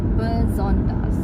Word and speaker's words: besonders: Terus contohnya lagi besonders. Jadi bukan besonders, tapi besonders. Besonders gitu. Nah, jadi ini bisa teman-teman lihat juga. Ini kalau kelihatannya cara bacanya itu seperti yang tertulis besonders, tapi kan intonasinya agak berbeda sedikit gitu. Jadi harus disesuaikan, besonders.